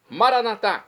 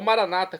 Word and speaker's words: Maranata: início do Advento agora eu clamo maranat como dizemos nós católicos ou Maranata como dizem nossos irmãos separados os evangélicos ou protestantes não importa pronúncia o significado é o mesmo